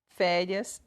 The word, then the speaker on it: férias: exemplo as palavras Lúcia férias e Paraíba né Lúcia Lúcia são duas sílabas então o look é a penúltima é mais forte a palavra férias o fé penúltima sílaba mais forte para Riba we sozinho